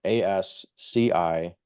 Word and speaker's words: Ascione: dot Ascione, Ascione. It's Italian. It's weird. That's how you pronounce it.